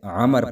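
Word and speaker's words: عمرو: بھی یاد رہے کہ جب عمر کے آگے واو آ جائے تو اسے عمر پڑھا جاتا ہے۔ اس کا انگلش کا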